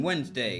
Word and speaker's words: Wednesday: the C in science, the D in Wednesday.